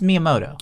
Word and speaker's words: Miyamoto: sugar okay I could have done that it's Miyamoto why are you throwing shade at me he's